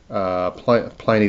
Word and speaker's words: Pliny: Pliny the Elder, apparently is how you pronounce it.